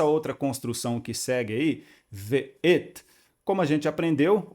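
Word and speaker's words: וְאֵת: Então vamos pronunciar v, o vav com o som de v, e o shivá, que é a semivogal entre o som de e a, pronunciado rapidamente.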